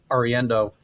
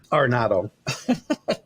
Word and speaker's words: Arenado: Nolan Ariendo, I said it wrong again, didn't I? Why can't I say his name right? Is possibly on the block for the Cardinals. Arenado.